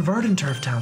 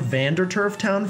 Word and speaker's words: Verdant Turf Town: I've literally called that town Vanderturf Town for like my entire life up to this point. And so actually pronouncing it correctly hurts my body.